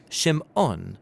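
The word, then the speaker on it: שמעון: and she names him Simon or in Hebrew shim ohn because she says the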